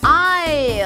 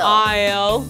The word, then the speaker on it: isle: 미친토익 포카 S 발음 탈락 Island Island Island Island Isle Isle Isle Isle Debris Debris Debris Debris 다 같이 따라해볼까요?